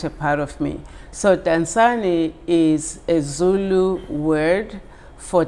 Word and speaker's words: Dansani: So yes, it's the name of the company is called Dansani.